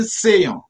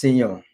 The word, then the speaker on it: Seyon: a good guy the name creator the name sayon tell me what those names mean actually sayon according to what i know uh it's actually pronounced senon you know i heal from the court speaking